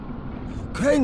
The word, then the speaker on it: Crane: name is crane okay crane rhymes with train and brain and saying and gray